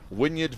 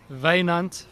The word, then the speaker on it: Wynand: This is I'd pronounce it Wynyard Venter. What's his real name? Wynand Venter.